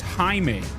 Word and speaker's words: Jaime: They pronounced his name as Jaime. See the legs, keep them hooked. It's Spanish.